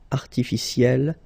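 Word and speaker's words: artificielle: Artificiel will become artificiel. You pronounce it the same way, but then you double the L and then you put at the end.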